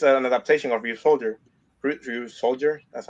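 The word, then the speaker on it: Ryusoulger: Ryu Soldier. That's how you pronounce it.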